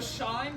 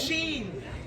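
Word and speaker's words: Shein: also like uh the shine company where like they're like look at this lovely top it's beautiful i think just pronounce sheen it's too cheap for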